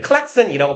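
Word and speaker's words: Klaxon: 네, 클락슨이라고 보통 발음을 하는데 우리나라에서는 이제 그 말이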